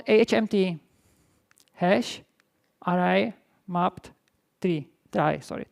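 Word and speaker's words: trie: Try is proper pronunciation.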